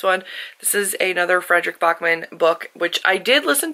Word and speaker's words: Backman: and it is pronounced Bachman, not Backman, even though it's spelled Backman, but he's Swedish, so he can say it however he wants.